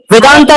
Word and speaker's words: वेदांत: भाई मेरा सवाल क्लियर है कि मतलब है वेदांता नहीं होता। वेदांत होता है पहली बात और दूसरी